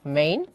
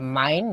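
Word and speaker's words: Mein: মেইন বা মাইন যেটা উচ্চারণ করা মাইন ক্যাম্প বা মাই স্ট্রাগল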